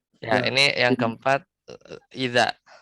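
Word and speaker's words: إِذَا: Ya, La ini yang keempat idza. Ini bacanya idza bil fathah.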